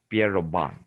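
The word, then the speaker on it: Pierre Robin: So tongue-based lesions or collapse, some such as vallicular cyst, micrognathia, or Pierrobin sequence. Pierrobon, sometimes they pronounce as Pierrobon.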